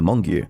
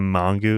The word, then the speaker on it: Mongeau: It's funny because in my very first Idubbbz, I was like, "It's Mongo, guys. Get it right."